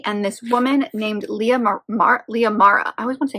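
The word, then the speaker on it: Lia Mara: forth between gray and this woman named Leah Leah Mara I always want to say her name is Maria Leah Mara who is the oldest daughter of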